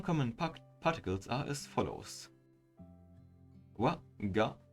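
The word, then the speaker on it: は: Wa, instead of being pronounced ha, you pronounce this particle as wa.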